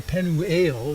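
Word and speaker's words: Peniel: this place penel or it's actually translated um a couple of ways penel um another way is to say penu that's the pronunciation guy but the the the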